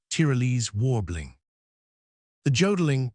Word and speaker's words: jodling: The jodling pronounced wodling emphasis on the o continued and was very pleasant and inspiriting to hear.